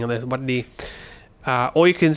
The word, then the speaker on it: หวัดดี: You can say หวัดดี so no sa, just straight into the หวัดดี and you'd spell it by changing the ซอเสือ into a หอหีบ you see that?